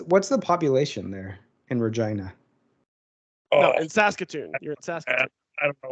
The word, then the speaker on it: Regina: i'll play uh regina oh we know about regina it rhymes with fun i'd rather steady because it